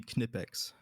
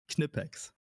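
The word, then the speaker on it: Knipex: Uh if you if you pronounce their name in German, it would be Kipex.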